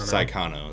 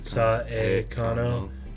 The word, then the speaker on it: Saekano: Well, you gotta make sure you get the pronunciation right. Saekano, because there is actually an anime that's shortened to Saekano. S-A-I. S-A-I rather than S-A-E.